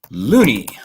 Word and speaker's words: Looney: So it's hugely dishonest for this guy, Adam Looney.